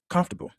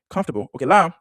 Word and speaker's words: comfortable: So, now let's say 10 common mispron mispronounced words. So, we're going to look at them real quick. Okay. One comfortable. Comfortable.